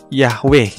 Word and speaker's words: Yahweh: huruf yaitu ih WH atau Dibaca juga dengan pelafalan Yahweh sedangkan adane adalah salah satu kata ganti yang